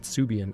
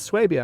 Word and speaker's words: Swabia: I always pronounced it Swabia. And then I started noticing some people pronouncing it Subian on YouTube, and I've never looked up the correct pronunciation. Someone pointed out, it's Swabia, and I was like, dang it. That's how I pronounced it originally.